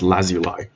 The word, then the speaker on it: lazuli: Because fun fact, it's apparently pronounced lazuli.